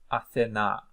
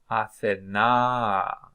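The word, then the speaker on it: Ἀθηνᾶ: Athena. Okay, so whenever you see this one, there is a raising of the intensity of the sound and the declining. Athena. So also indicates the stress.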